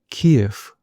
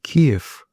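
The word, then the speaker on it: Kyiv: and suggests KF with support from Europe and NATO can restore its old borders. 자, KF 우크라이나의 수도 크유를 영어식으로 발음한 거죠.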